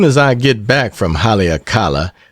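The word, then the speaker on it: Haleakalā: As soon as I get back from Halakala, pronounced Hali Eka la, I will sail for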